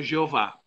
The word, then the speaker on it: Jeová: as vogais Jeová jamais Jeová é o que chama de pronúncia híbrida eles pegaram as consoantes do hebraico do nome de Deus é acrescentaram as vogais de Adonai aí ficou Jeová então Jeová uma pronúncia híbrida é a junção do tetragrama com Adonai então Jeová bem longe da pronúncia correta e o tetragrama vem